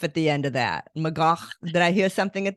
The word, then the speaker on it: McGough: Yes, I'm sure my ancestors said McGough, and then somewhere in America we started saying McGough. Yes. McGough with a little bit of a cough at the end of that. McGough.